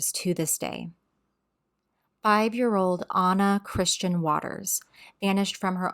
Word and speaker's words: Anna: a few other sources her name is pronounced anounced Anna like the character in Frozen so not Anna but Anna and Anna was an